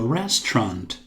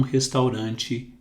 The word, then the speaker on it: restaurant: We can go to a restaurant this evening. Nós podemos ir a um restaurante esta noite. Aqui temos um Restaurant. Não pronunciamos a, u.